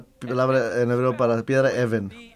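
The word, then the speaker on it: אֶבֶן: Que en azul, en hebreo, Ha es el, Even es piedra.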